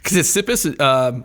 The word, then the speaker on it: Ctesippus: Ctesippus, aside from being very difficult to pronounce, because it's got that kapatao at the beginning.